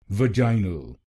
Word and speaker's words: vaginal: vaj a n vanal In British pronunciation, we stressed on the second syllable of the word vaginal, but in American pronunciation, we will stress on the first syllable, so we will say vaginal vaginal.